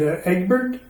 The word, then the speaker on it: Egbert: sons now they had Egbert and Alfred and William Egbert like legs pronounced like like it like an egg and then like Bert like Bert and Ernie that's a say you